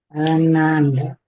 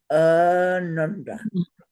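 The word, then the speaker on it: ānanda: So the colored lines again help us know that the very first syllable, which is just is pronounced long, nanda. And the second syllable, nun, and the third syllable, da, are pronounced as short notes, quarter notes, nanda.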